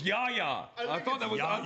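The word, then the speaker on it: Yahya: You just called him You just called him Hey y'all Black. You You did too. You wrote in a Outcast song and it's not even kind of spelled that way. It's spelled the way it sounds.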